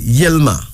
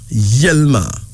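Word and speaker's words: Yilma: And then we got a name like Yelma. Yelma.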